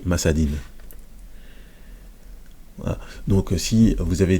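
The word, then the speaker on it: مسد: Moi je prononce à chaque fois masade parce qu'on s'arrête. Donc, mais sinon, il s'écrit masadin.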